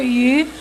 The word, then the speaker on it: 余: in the dinner, and the fish is pronounced as yu in Chinese, and it's also pronounced the same as another yu, which means abundance.